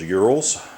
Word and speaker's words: Ural: want to pronounce it if want to pronounce it in the Russian way I believe it's Ural uh we call them UL here in the South and um check out